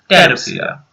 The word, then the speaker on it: Pteropsida: Then Pteridophyta, Psilopacida, Lycopsida, Sphenopsida, and Pteropsida. P is silent, so it is Pteropsida.